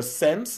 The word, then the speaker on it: SSENSE: He basically is joined forces with a high-end retailer, Sense, that is spelled SSENSE, and leather company Fleet Ilya to create a $6,400 pair of BDSM headphones.